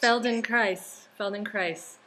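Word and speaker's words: Feldenkrais: the yeah Feldon Christ Feld in Christ that's how you say it rhymes with Paradise there you go yeah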